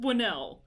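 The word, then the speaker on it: Whannell: an f noise because i have friends with wh as their first name like in their first name and it's a sound so i'm pretty sure it's just winnell i'm thinking that's how it's said and they were from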